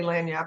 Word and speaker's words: lagniappe: that all of you lsu students will know how to say lan yap because it's a it's a southern word and um on our